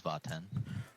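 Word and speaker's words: Vat'en: This one is Vaten. Vaten, how do you spell that?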